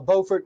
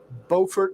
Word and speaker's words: Beaufort: But yeah, anything in particular that you want to see between Beaufort, North Carolina, and Buford, South Carolina. They're spelled the same, they look the same, but they're pronounced differently.